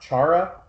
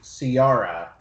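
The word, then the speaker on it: Ciara: mentioned that Queen chart Chara Chara Tara Tara like a chair okay well I'm just so used to hearing you say Ciarra it's spelled Sierra it's Irish yeah that's good that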